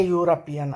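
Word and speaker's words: European: उसका प्रोनाउंसिएशन कैसा हो रहा है यूरोपियन का? YOU, वाई के साउंड के साथ होता है यूरोपियन, YOU, यानी कॉन्सोनेंट के प्रोनाउंसिएशन से हो रहा, वोवेल का प्रोनाउंसिएशन नहीं हो रहा, इसलिए ए यूरोपियन लेडी कहेंगे।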